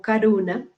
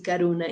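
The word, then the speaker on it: करुणा: pensando en el coronavirus hay una palabra en hindi en el idioma en uno de los idiomas de la india que corona es suena como caruna ellos lo pronuncian así caruna y que alguna quiere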